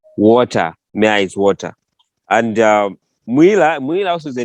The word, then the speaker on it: Mwila: But the pronunciation there in Luvale we say Mwila. Mwila. The Bembas say Mwila.